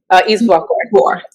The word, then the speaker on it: Izuakor: Izuakor.